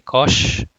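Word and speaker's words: cosh: of saying hyperbolic cosine so you can say kosh then instead of hyperbolic sign so you may call it as shine shine cosine um so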